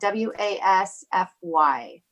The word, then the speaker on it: Wasfy: sure how to pronounce this name last name is spelled W a s FY still my name is the wasfy so